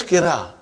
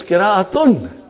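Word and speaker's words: قراءة: When you say qira'a, you did not pronounce ta marbuta. Iski qira'a bahut achhi hai. What is the meaning of that? His recitation is excellent. So, qira'a is qira'atun.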